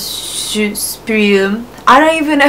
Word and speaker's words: Supreme: Yeah, so when you pronounce Supreme, I don't even know how to do it in English. We call it Supreme. So, shu sounds more like shoe, like shoes.